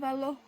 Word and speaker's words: velo: Velo. Velo. Velo. It's like cello.